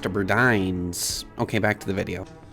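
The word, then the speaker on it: Burdines: I guess was a Bines before that. Um, actually, that's pronounced Berdines.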